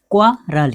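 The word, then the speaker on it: quarrel: हम इसको जहाँ पे QUARREN, वहाँ पे हम आप तो समझ रहे हैं कि यहाँ पे RE है, तो यहाँ पे क्वारल कैसे होगा, यहाँ पे रेल होना चाहिए, ऐसा नहीं।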